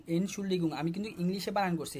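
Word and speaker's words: Entschuldigung: হ্যাঁ, এখানে জি জি, এনশুল্ডিগুং we highest do, এটা হবে এনশুল্ডিগুং ইএনটি এন্ড, এভাবে বড় ওয়ার্ড ফেলে ভেঙে ভেঙে উচ্চারণ করবেন। ইএনটি এন্ড এসচিএইচইউএল শুল ডিআইডি জিইউএনজি গুং এনশুল্ডিগুং।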